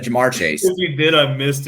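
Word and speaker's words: Ja'Marr Chase: I did not say Jameer Chase, by the way. Like, that's just not true. I did not say Jameer Chase. I said Jamar Chase.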